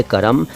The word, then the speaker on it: कर्म: यहाँ ये बता दूँ कि ये करम शब्द है, इसको करम बोल दिया है, करम के नीचे नुक्ता लगा दिया है सिंगर ने, नुक्ता नहीं है, ये है करम। असल में ये कर्म है, कर्म मतलब काम। ठीक है, कर्म, करम कह दीजिए कोई बात नहीं, लेकिन करम ना कहें।